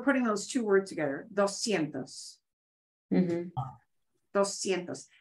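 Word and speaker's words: doscientos: 200 okay so 200 dos sientos and literally we're putting those two words together dos sientos and the S and the c i all make the S sound so dos sientos if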